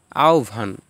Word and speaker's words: আহ্বান: যেমন জিহবা, জিউভা, এটা হয়ের স্থলে রুস্যকার হয়ে গেছে এবং বয়ের স্থলে ভ হয়ে গিয়েছে। আহ্বান, আহ্বান।